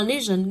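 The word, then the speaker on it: lesion: từ với từ naion từ này không phải lesson đâu nhá nhá từ này của cô đọc là đọc là Legion nghĩa là những cái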